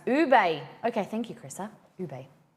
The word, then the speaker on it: ube: Ube is pronounced ube.